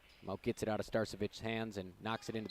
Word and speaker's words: Starcevic: Shout out to the Kindred fans who gave me the pronunciations before the game. It's Starcevic, and here he comes in the open court.